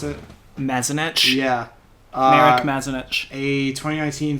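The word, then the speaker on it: Mazanec: In exchange for Mark Mazanek, is that how you pronounce it? Mazanek?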